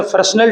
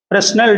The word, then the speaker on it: Fresnel: हम जो पैटर्न बनता है डिफ्रैक्शन का उसे फ्रेस्नेल टाइप बोलते हैं। ठीक, स्पेलिंग FRESNEL, फ्रेस्नेल डिफ्रैक्शन।